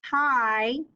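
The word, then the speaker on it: π: This symbol is pronounced pi, P-I, it's a Greek symbol, and we're going to explore what that is next.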